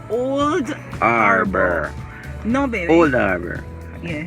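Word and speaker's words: Old Harbour: Catherine, there's this town, and it's pronounced as Old Harbor. No, you have to give the wrong name first. All right. And Olava. No, but my friends say Olaba.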